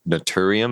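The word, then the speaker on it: Naturium: And you mentioned, I think you said Notorium. Is that how you pronounce it?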